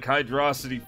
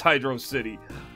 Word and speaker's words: Hydrocity: up had to sonic hydrosity forced me i know it's hydrocity i always thought it looked cool pronounced hydrocity okay we still got